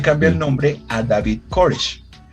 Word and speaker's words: Koresh: Se cambia el nombre a David Koshar. Permítanme lo reviso si lo estoy pronunciando bien, porque es importante. Koresh. David Koresh.